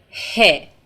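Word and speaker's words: ح: Persian letter is letter hey and it is pronounced like in the beginning of the word home for letter H in English the form of this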